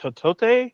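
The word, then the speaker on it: Hotate: He also plays Chief Ken, I believe it's pronounced Hotote, which I think is a play on Chakotay from Voyager.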